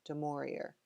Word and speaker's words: Dimorier: last couple of centuries there has been much confusion as to how to pronounce Williams surname and I'll tell you why I pronounced it the way I do de morir not much is known